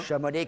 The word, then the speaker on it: Chamonix: Je suis de Crône, mais originaire de la Haute-Savoie, de Chamonix. De Chamonix. On dit pas Chamonix? Chamonix, On dit Chamonix? yes. Ah, je croyais qu'on disait Chamonix, moi. Chamonix, le X, il faut le dire.